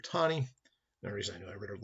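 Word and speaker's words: Taney: his names roger tani some people pronounce it tani but it's actually roger thani that reason i read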